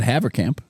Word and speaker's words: Havercamp: And do you want to try to pronounce his name? I said Havercamp.